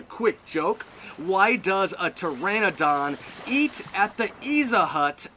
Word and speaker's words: Pteranodon: at the pizza hut because the p is silent it can't say the letter p so it's off at